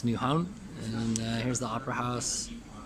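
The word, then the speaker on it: Nyhavn: This was Newhavn, and I pronounced it wrong. I think I said New Haven. It's Newhavn.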